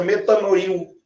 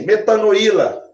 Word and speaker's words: metanoíla: Tem uma pronúncia, né? Uma entonaçãozinha melhor, porque senão fica metanoil. Metanoil. Então, assim, metanoíla é o nome, vamos colocar um acentinho agudo.